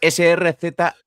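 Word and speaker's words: Srzentić: Es Srzentic.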